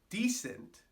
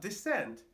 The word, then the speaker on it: decent: Decent, not descent, decent. That accent's important.